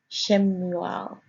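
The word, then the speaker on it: שמואל: It is pronounced there as Shemuel.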